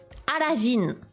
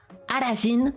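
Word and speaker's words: アラジン: A, ra, ji, Arajin. Arajin, c'est bien sûr Aladdin, prononcé à la japonaise.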